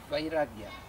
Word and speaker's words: vairagya: And there is second instrument called vairagya.